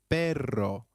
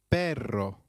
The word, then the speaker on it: perro: usually animals note that double r in Spanish can also be referred to as rolled R the pronunciation is almost with a vibrating sound so try saying perro which means dog again it is perro a quick grammar tip